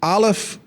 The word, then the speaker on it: Aleph: tech platform, then this ALF cloud or alif like what's the easy way to pronounce it? A alf Okay.